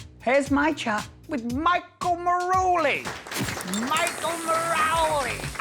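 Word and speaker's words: Marouli: Here's my chat with Michael Maroli. Michael Maroli. I can't say it like Ru says it, can you? Michael Maruli. Michael Maruli. I'm saying Marowley. There you are. Like it's some kind of pasta. Sounds lush though, doesn't it?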